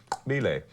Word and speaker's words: Xobile: And the guy's name was pronounced Bile. His name was Bile. He had a in the beginning of his name, and then apparently, according to the white people in South Africa, it's spelled X.